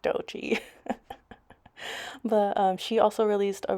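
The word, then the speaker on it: Doechii: I think I used to say Doechi, but it's just Dochi.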